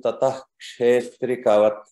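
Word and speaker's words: ततः क्षेत्रिकवत्: Okay, a very good attempt, but one rule to remember is whenever ksha comes and there is a visarga or two dots before that, we have to pronounce it completely.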